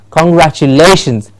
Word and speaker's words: congratulation: all of you tomorrow congratulations because we would have completed our training congratulation the Latian gets the stress so when you say